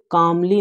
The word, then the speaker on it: calmly: देखो यहाँ पर यल आप लोग नहीं पढ़ेंगे, यल साइलेंट रहता है। ठीक है, CALMLY काम, इसे CALM इतना हम लोग काम पढ़ते हैं, यल साइलेंट रहता है, कामली।